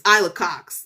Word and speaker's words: Ayla Cox: now I have to make sure that people are pronouncing the name right so they can get the joke, right? Because it's Ayla Cox, like I love Cox, right?